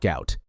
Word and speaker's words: Gout: His full name, pronounced to rhyme with pout, was misspelled during his family's transliteration from Arabic. The world knows him as Gout Gout.